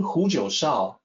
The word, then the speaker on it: Jiushao: The name Jiushao can also be pronounced Jiushao, but typically you hear people say Jiushao. It's correct to sound it out either way.